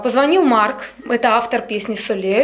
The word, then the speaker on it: Solayoh: И почему была выбрана именно эта песня «Салаю»? Я бы хотела, конечно же, сказать, что вы неправильно произносите ее. Как? Песня называется «Солею». «Солею».